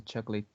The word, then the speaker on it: chocolate: And this word has two syllables. The first one being choc and the second one being let.